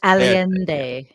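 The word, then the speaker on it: Allende: immediately crashed the economy you're mispronouncing it was alende Al alende okay that heing that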